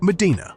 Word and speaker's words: Medina: Medina, pronounced Medina.